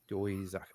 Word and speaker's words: Doizaki: Doizaki. Okay. How it looks. Yeah, quick and simple, just like Smith.